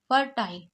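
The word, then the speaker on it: fertile: या देखिए यहां पर एफ ई आर को फर पढ़ते हैं क्योंकि ई आर को क्या पढ़ेंगे अर तो फर टाइल क्योंकि कहीं पर भी आई के बाद एक लेटर छोड़ के ई होता है तो आई को आई पढ़ते हैं और लास्ट वाले ई को नहीं पढ़ते यह क्या हो गया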